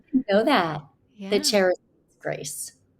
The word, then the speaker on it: Charis: Charis Grace. It's technically, I think the official pronunciation. It's a Greek word and it means is charis, but it's connected with grace and love, and so Oh, and cherish.